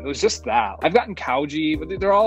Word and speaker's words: Chaojie: would be the American pronunciation of That's the like American pronunciation, yeah. Chaojie is the more authentic Chinese.